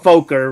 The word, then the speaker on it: Focker: don't watch my language that's how it's that's really how it's pronounced you know that's actually pronounced Folker right yeah Folker whatever it's